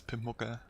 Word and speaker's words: Pimpmuckl: Yeah, it's hard, it's German, like, I would say it's Pimpmucke, but this is so hard to, like, pronounce, like especially when I come from English.